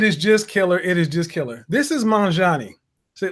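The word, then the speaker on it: Magnanni: Mangiani is it's pronounced, apparently. I call it Magnani. That's what it looks like to me.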